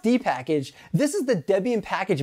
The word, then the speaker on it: dpkg: a link in the cards number 12 dpkg pronounced d-package this is the debian package manager simply put